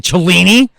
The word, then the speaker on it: Cellini: Nobody fucking talks back to Cellini. It rhymes with meanie.